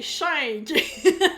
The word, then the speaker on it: Shink: Schenk, c'est comme ça qu'on prononce? Schenk? Non, mais je t'aime pareil, c'est Schenk.